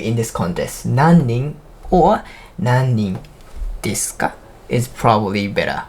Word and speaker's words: 何人: いくつ When you're asking つ If you want to ask how many people, 何人 You're gonna pronounce like 何人何人 If you really wanna